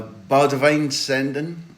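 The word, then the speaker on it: Boudewijn Zenden: a good reference uh B Divine sendon I hope I've done my best there for the correct Dutch pronunciation you have heard this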